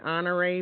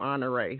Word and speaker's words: Honoré: what we Nam after I knew it was French that's why I could pronounce it correctly because I'm from Louisiana and there are people here in Louisiana that has the last name honor so that's how I